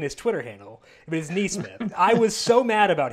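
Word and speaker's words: NeSmith: His Twitter handle is K-N-E-E Smith. I was so mad when I saw that it's literally in his Twitter handle. It is Neesmith.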